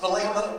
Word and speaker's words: Vallejo: Vallejo? Like the city of North? Vallejo, pronounced by J.